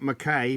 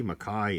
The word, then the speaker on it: Mackay: McInnes, not McGuinness, McInnes, McIntyre, Mackay, not Mackay, Mackay. That's pronounced Mackay.